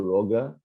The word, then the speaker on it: Rocha: I think it's Enrico Roga. Okay. With a hard G.